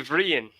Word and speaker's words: Brian: Brian is Irish.